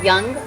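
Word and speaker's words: Jung: the forward is by carl young which is spelled j-u-n-g and if you don't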